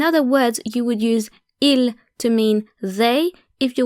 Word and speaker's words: ils: S because the singular ill and the plural ill are pronounced exactly the same so ill with an